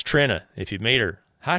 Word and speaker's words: Trina: Speaking of name pronunciations, it's Trina. Trina. All right. Everybody calls her Trina. But it is Trina.